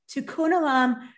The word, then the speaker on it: tikkun olam: called tikkun olam uh i'll go ahead and spell it t-i-k-k-u-n o-l-a-m tokun alum literally means repairing the world even as a